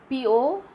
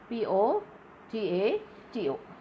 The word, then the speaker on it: potato: You have to use the stress. So you will say potato. Ante first, third unstressed. Po-to. T-A is stressed.